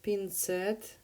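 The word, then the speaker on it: пинцет: word is pin set here's the word pin set pin set with the stress on the second syllable so once again plastic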